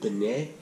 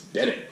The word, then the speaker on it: Bennett: correctly at all yeah it's pretty simple just Bennett yeah I was like was it been a cause like no it's not that's been it yeah like Knicks look